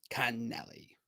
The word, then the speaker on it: Connelly: But now I know we were wrong in the first time, and I'll get it right. And I'll say, humbly, this is how you say it. Connelly.